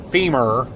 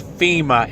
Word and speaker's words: FEMA: supposed to have it it's FEMA fe ma not FM Fe M AR it's not femur that would be a leg bone so get your facts straight FEMA not femur it is